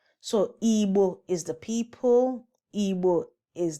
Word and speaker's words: Igbo: So the problem was from the people who were writing down the sound and didn't know how to capture that B sound.